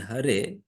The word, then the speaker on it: Hare: And that's why these people from China, unable to pronounce it, they improperly pronounce it, saying Hale Lama, Hale Lama.